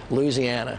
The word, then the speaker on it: Louisiana: name of your state Louisiana Louisiana yeah Louisiana Louisiana okay it depends on what part of the state you're from you can call it Louisiana but nans Louisiana just let it rip